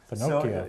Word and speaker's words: finocchio: or in Italian it's finocchio. Finocchio. So, yeah, like Pinocchio, only Finocchio with an F.